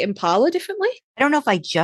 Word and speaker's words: Impala: you put the emphasis on the Impala. P. In the Impala. Get in the Impala. Like from Boston.